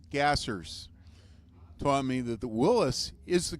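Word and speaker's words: Willys: fun of me because I call it Willis not Willies one of the nation's foremost experts on Willis gassers taught me that the Willis is the correct pronunciation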